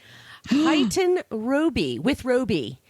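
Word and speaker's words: Huyton-with-Roby: One of our kind listeners sent me the pronunciation for this town. Huyton Roby, with Roby, in Lancashire, England.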